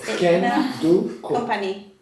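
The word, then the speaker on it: Candoco: It's Can-do company. Can-do company. Candy. Kandoko. Candy. No, Kandoko. Se escribe Can-do.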